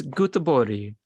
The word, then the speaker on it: Göteborg: Now look at you saying Gothenburg, but it's Göteborg in Swedish.